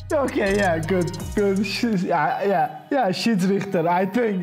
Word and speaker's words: Schiedsrichter: Schiedsrichter. Okay, yeah, good. Yeah, Schiedsrichter, I think it's good, yeah.